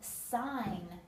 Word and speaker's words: sign: are both silent and sign the g is silent again sign is a word for